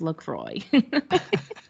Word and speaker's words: LaCroix: in between us and he goes um it's pronounced lacroix and we're like uh